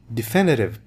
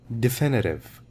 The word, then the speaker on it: definitive: Definitive proof, a final proof. This is pronounced as definitive. Definitive. E.